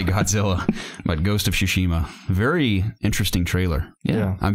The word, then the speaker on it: Tsushima: Ghost of Tsushima.